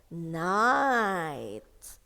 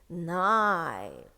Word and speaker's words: night: There is a word here also, night. Okay, night. So here, the IGH in here, okay, it's a trigraph, which consists of 3 letters, and it makes the long vowel I.